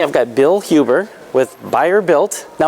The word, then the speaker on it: Bayer Built: got Bill Huber with buyer built now am I saying that right you are saying it right buyer built and uh you guys